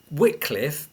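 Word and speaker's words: Wycliffe: were uh contrary to official church doctrine uh whitcliffe uh which is spelled Wy CLI ffe wet Cliff was actually supported in this trial by John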